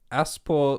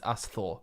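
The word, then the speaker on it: Ásþór: Aspor Oh, Loki. no, that's not a P. It's a Thorn. That's a th. It's Asthor.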